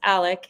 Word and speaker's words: Alex: last name in fact his name is pronounced Alec even though it is spelled Alex um so I'll just